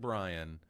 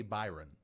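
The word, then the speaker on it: Bryon: reshoot lines today because I saw Brian said Brian but the way that name is spelled it makes you want to say Byron. It's not Byron. I thought it was Byron.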